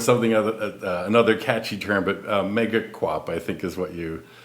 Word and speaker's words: Megaquop: other catchy term, but mega quap I think is what you is that how you pronounce it? Yeah, I say mega quap.